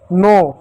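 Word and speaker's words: knee: नो। ठीक है? नो। अब इसी प्रकार एक और शब्द है एन डबल ई। के साइलेंट होगा। एन को न पढ़ेंगे और डब्ल्यू ई का बड़ी ई की मात्रा नी।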